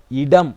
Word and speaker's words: இடம்: Okay, இப்போ நீங்க வாசிங்க எப்படி என்று சொன்னா இலை இடம் என்று சொல்லி வாசிங்க. ஆனால் நீங்க வாசிச்சது இலை ஓகே, ஆனால் இடம் என்பது இல்லை, இடம் என்பதுதான் சரியான உச்சரிப்பு முறை. ஏனென்றால் இந்த ட என்பது வளைனா ஒலி என்பதனால இடம் ஈ என்ற சவுண்ட் வராம உ என்ற சவுண்ட் வரும்.